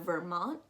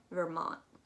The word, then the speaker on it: Vermont: way up we have vermont um you're not actually going to pronounce that t at all or if you want to you can pronounce it a little bit vermont to the right we